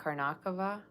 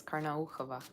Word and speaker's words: Karnaukhova: pronounce it is like Karnakova, which is like weird, right? I mean, the way you should say it is Karnaukhova, right?